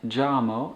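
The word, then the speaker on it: llamo: michael joe michael and notice that that y and the double l actually have the same sound in spanish so you can think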